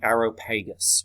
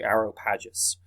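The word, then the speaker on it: Areopagus: the athenian government was known as the aeropagus or the arrow pages okay depending on how you wish to pronounce it but the aeropagus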